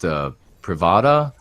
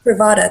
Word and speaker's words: Bravada: And I'd like to thank, I think, is it pronounced Privada? Bravada, that's right.